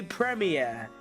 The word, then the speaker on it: premier: radius no one will say Premier every single person will say premere that's what it is if you want to say it's wrong up to you but it ain't wrong round here it's just how you say it it's like Americans